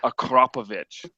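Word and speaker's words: Akrapovič: Yeah, it's it's pronounced Acropovich. Acropovich.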